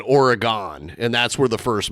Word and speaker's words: Oregon: Well, technically, what we have a town outside of Toledo called Oregon, Ohio, and it's spelled like Oregon, but they call it Oregon, and that's where the first Marco's was.